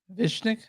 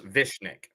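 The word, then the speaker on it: Višnjić: and it's Goran fishnick vishnik vishnik is how you pronounce it so it's vishnik all right cool Gordon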